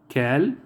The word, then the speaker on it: quel: The interrogative adjectives are cal, cal, cal, cal. So all the four pronunciation is cal.